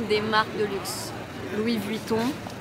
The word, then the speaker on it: Louis Vuitton: mais c'est trop beau bien sûr l'irremplaçable Dior prononciation des marques de luxe Louis buitton Dior alors si vous avez regardé la série